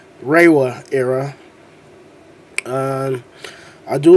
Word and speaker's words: Reiwa: But this is the first writer of the Reiwa era. I wasn't saying it right. Reiwa era.